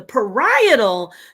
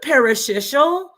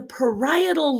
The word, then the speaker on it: parietal: two regions in the parietal, not the parasocial, Juju and Professor, how you're pronouncing it, your parietal, the parishioner. It's the parietal lobe. Two regions in the parietal lobe, to be exact, that receive and process somatosensory stimuli.